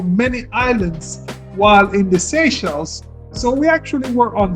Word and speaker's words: Seychelles: in the maldives and prior to my trip i was pronouncing it seashells but i was corrected pretty early on seychelles yes and i will